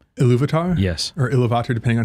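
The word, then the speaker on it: Ilúvatar: gift of how do I say his name iluvatar yes or ilat depending on who's saying it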